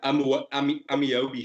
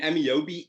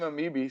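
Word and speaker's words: Ameobi: But I mean, Amiobi is a Newcastle legend, scored important goals. He's not a big name, but he's an icon in the Newcastle. He just butchered his name and called him Amibi.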